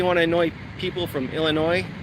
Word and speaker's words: Illinois: to annoy people from Illinois, call it Illinois with an S. You don't pronounce the S on the end, it's just Illinois.